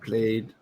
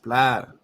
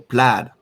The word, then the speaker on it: Plaid: expo played either way i think i'm pronouncing the drawing by saying played right isn't it how do you pronounce it what's the right english way to pronounce it i think it's pronounced was it plaid am i doing it wrong ah jeez it's pronounced plaid look at me and